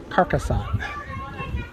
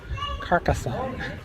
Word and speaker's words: Carcassonne: you pronounce it again kassan kassan that was that was close carcasson carcasson I keep W to think there's a tea in it but there's no tea in itan kassan you got